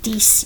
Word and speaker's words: dix: Neuf you're pronouncing the F, and dix you're pronouncing the X.